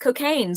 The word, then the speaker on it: Cokayne: It is actually pronounced Cokayne, so you will never forget that.